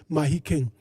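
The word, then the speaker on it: Mahikeng: call it Mafiang it's written Mafiang but it's pronounced Mahikang the tribal chiefs there on the you know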